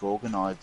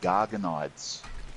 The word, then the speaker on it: Gorgonides: There's one 5-man adventure where there's this guy that is constantly talking to you, and instead of calling them Gorgonides, he calls them Gargonides.